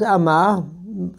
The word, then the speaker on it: ama: For example, mother is ama, two syllables in Akha.